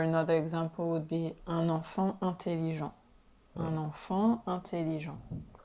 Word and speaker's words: enfant: Or another example would be un enfant intelligent. Un enfant intelligent. So we don't pronounce the T at the end of enfant.